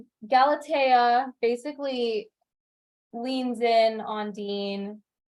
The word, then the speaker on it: Galatea: They said it Galatea in the movie. Galatea, okay. And in the audiobook. Okay, so it's Galatea, which is I like that name. That's a really nice name. Galatea basically leans in on